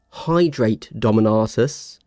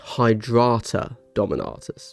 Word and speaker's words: Hydrata Dominatis: Now, hydrate dominatis. But shouldn't it be pronounced hydrata dominatis? Right. Hydrata dominatis cuz it's fake Latin. So, it's not hydrate like we would say.